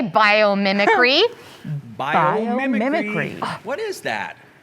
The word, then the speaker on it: biomimicry: yeah here we go biomimicry could you one more time yes please bio memory free how many was that five mi five five syllables one two three four five whoa how that means